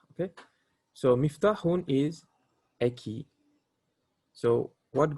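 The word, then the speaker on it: مفتاح: Okay, yes, it's the kasra, so it will be miftah, kasra, uh, miftah. Okay, so miftahun is a key.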